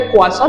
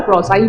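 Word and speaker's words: croissant: হ্যাঁ, ফ্রেঞ্চ উচ্চারণ যদি করি তাহলে ক্রোয়াসন, নাহলে আমরা ক্রসাই বলি। আর যেটা নিয়ে প্রচন্ড ভাইরাল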